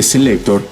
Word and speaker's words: C-Lekktor: El nombre Selector, de hecho, como muchos se habrán dado cuenta, es un juego de palabras que se pronuncia igual que selector, pues para Marco eso